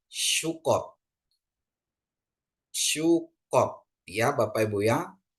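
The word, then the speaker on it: סוכות: ya jadi bacanya syukot sukot ya Bapak Ibu Ya ada samek Ada kap ada untuk O ya dan tap bacanya dia sukot ya Bapak Ibu Ya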